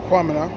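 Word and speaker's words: Quamina: So, the enslaved Africans there, led by a brother named Kwamina, Q-U-A, Kwamina, which strangely enough is the same pronunciation as the Ghanaian name Kwamina, spelled K-W-A.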